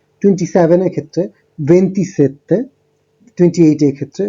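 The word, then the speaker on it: ventisette: 24 এর ক্ষেত্রে উচ্চারণটা হচ্ছে ভেন্টিকোয়াত্রো, 25 এর ক্ষেত্রে ভেন্টিচিনকুয়ে, 26 এর ক্ষেত্রে ভেন্টিসেই, 27 এর ক্ষেত্রে ভেন্টিসেত্তে, 28 এর ক্ষেত্রে ভেন্তত্তো, 29 এর ক্ষেত্রে ভেন্তিনোভে।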